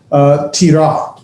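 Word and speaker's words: תִּירָא: It is, well, we'll get to that in a minute, but it's pronounced tira.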